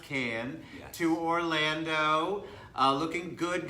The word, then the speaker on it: Cannes: And the name of our show is From Cannes, yes, it's pronounced Cannes, Yes.